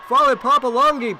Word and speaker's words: Fale Papalongi: Fale Papalongi padding her stats with the rebound and the basket. It's spelled just the way you say it, Fale Papalongi.